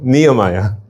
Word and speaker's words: Nehemiah: And then because the H is silent, ne E. How do you read that? Neo. Neomaya. There you go. Nehemiah.